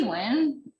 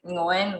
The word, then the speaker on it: Nguyen: Yeah, it's Nguyen. Like, I'm winning something. Yes, you are. Yeah. But I've also heard like other people say it like Nguyen, where they pronounce the NG at the beginning more.